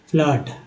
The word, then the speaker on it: flood: अब FLOOD फ्लड, flute तो नहीं बोल रहे, फ्लड, फ्लूट नहीं बोल रहे हैं, फ्लड बोल रहे हैं।